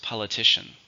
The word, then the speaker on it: politician: countable noun how many syllables politician four stresses on the third politician it's been a